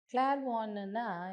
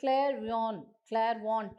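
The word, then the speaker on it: clairvoyant: அந்த மந்திரம் என்னென்னா உங்களை கிளார்வான்னா என்ன அர்த்தம்னா, கிளேர்னா கிளியர், அதாவது தெளிவாகன்னு அர்த்தம். ஸோ கிளேர்வாண்ட் அப்படி சொல்லி சில பேர் அந்த டீயை ப்ரொனவுன்ஸ் பண்ணுவாங்க. அப்படி கிடையாது, கிளேர்வான்.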